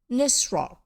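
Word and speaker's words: Nisroch: know why you want it nus rock nissrock nissrock that's it spelt with a ch at the end then anthea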